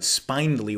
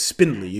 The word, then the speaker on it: spindly: a beautiful spindly spindly i'm tempted to pronounce it spinely when i see it written out but it's spindly that makes me think